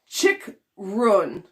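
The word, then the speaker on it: Chychrun: Davey says Jacob Chickrun is the pronunciation.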